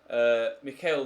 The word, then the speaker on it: Michael: star four star guy Mikael Weber I guess would be the way to pronounce it in German obviously I was an Englishman would say Michael but I think Mikael is how they say Michael in Germany I'm just thinking of